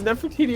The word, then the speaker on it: Nefertiti: You show up, the rest of us are like, yeah, it's Nefertiti Overdrive, and you're just like, wait, what?